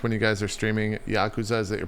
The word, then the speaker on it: Yakuza: I'm mostly joking, but the accent's on the first syllable. Well, mostly joking because I'm probably pronouncing it wrong anyways, but it's Yakoooooza. Yakoooooza.